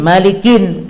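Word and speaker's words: مالكٍ: Walidzalika yuqra Malik, oleh karena itu dibaca kalimat atau lafaz Malik bitanwin Malikin, kayak tadi kasusnya. Kalau dibaca nggak ditanwin salah.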